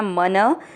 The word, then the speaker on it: मनः: मन दोनों जो है अक्षर पूरे हैं, दोनों में मिक्स करना। मन न में अ की मात्रा तो विसर्ग को पढ़ेंगे ह। मनः क के नीचे री